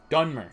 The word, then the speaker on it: Dunmer: I am Dunmer.